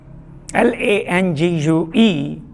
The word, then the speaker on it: langue: L-A-N-G-U-E, langue, or in French they do call it langue. Both the pronunciation would do.